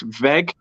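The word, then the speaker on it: Weghorst: warehouse so it's like as much as it's spelled like weg horst it's veg so it's spelled out like also like a v i've always liked him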